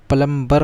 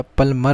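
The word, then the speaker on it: plumber: बी इसमें silent होता है। जो प्लम्बर बोलते हैं वो प्लम्बर नहीं होता, प्लमर होता है।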